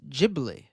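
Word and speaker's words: Ghibli: with a super chat in Japan gibli is pronounced as jibli oh okay there you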